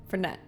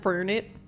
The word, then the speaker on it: Fernet: Usually you hear the accent on the second syllable. Fernet. Fernet. So it's not fernit. Fernet.